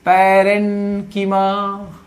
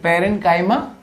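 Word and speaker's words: parenchyma: पहला है पैरेन्कीमा, किसकी मां? पैरेन्कीमा। दूसरा कॉलेन्कीमा, भाई पैरेन्काइमा, कॉलेन्काइमा, नहीं तो एग्जाम में भी गलत लिखोगे।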